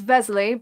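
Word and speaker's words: Veselý: you were right Uribe's Li I know it's Vesely but I'm always changing the way I pronounce his first name so bear with me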